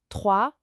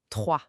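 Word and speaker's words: trois: Là, on a le fameux R. Oui, ce re qui vient du fond de la gorge. Doucement, pas besoin de forcer. Et le s à la fin. Mué, on ne le dit pas. Ça fait juste 3.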